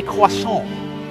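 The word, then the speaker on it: croissant: of this role my friends is called a quason quason say it with me kids quas there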